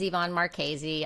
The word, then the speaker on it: Marchese: you to tonight's guest yvonne marchese did i pronounce that right it's a doozy it's marchese it looks like our cheese some people call me